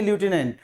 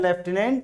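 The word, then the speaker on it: Lieutenant: तो EUTENANT, ल्यूटिनेंट general ऐसा लगता है, लेकिन इसको पढ़ते नहीं है ल्यूटिनेंट, इसका उच्चारण होता है लेफ्टिनेंट जनरल।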